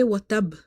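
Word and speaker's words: وَتَبَّ: because if you say watab, ba will be pronounced once. You have to emphasize, you have to stress upon it, you have to say watab. So here qalqala will be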